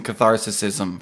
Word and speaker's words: catharsis: Uh I'm gonna take some catharsism from it. Okay. I've told you the right way to say that word like five times. It's catharsis.